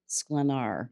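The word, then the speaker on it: Sklenar: Justin B Boni and Brandon scenar I believe is is how you pronounce it so anyway so and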